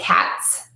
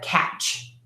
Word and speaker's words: catch: say t s so people will say cats instead of catch cats catch and the mistake here is going to be more with the lips so if you watch this cats it's more of a smiling mouth as opposed to catch and that's a little more rounded so we're going to